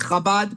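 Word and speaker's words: Chabad: the Chabbad movement or the C hab it's pronounced Kabad but um so that a lot of people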